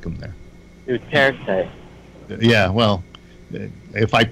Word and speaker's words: Duterte: Duarte likes him. They all like him there. Duterte. Yeah. Well, if I mispronounce his name, he'll kill me.